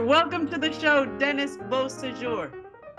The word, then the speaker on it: Beausejour: Beau, and then like, like. you know, soup du. Beausejour. Yeah, you got it. I mean, you could say Beausejour too, and I'd be fine with that.